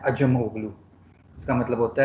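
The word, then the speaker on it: Acemoglu: कौन कौन होगा अजमोगलू आप लोग सब उसको आसिम ओगलू प्रोनाउंस करते हैं लेकिन उसका असल नाम है अजम ओगलू इसका मतलब होता है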